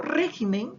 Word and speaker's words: régimen: Por ejemplo, si yo digo régimen, que está en singular, encontramos, ¿cierto?, la sílaba tónica en la antepenúltima sílaba, pero si yo digo